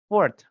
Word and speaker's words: fourth: Keempat itu bacanya forth. FTH. Jadi ada th-nya fourth fourth seperti itu.